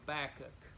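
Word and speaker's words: Habakkuk: was a little kid I called this book a Baku of course that's not pronounced right way it's a back up so H ABA KK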